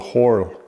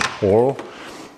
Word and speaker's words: Horl: This is a sharpening system by a company called Horo, however that is pronounced Horl.